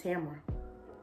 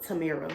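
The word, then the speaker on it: Tamera: i don't know why people call me tamara like if i was if i was like them i would immediately go to tamira like tamara is just like i feel like tamara would be spelled like t-a-m-a-r-a but mine is t-a-m-e-r-a anyways i'm gonna spend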